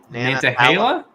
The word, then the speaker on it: Nantahala: Forest is Nan how do you say it Nantahala I don't know that one is it spell